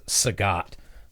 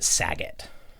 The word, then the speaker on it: Sagat: transitions looking at them she doesn't pronounce sagat the way that i'm pronouncing sagat like a like someone who's heard the word yes she pronounces it sagitt amazing which would be